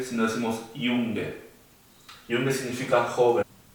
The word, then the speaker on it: Junge: La J se llama J y se pronuncia como una I. O sea, en este caso no diríamos Junge, sino decimos Junge.